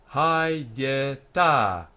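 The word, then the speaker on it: הָיְתָה: Hayeta, hayeta. 2 syllables, hayeta.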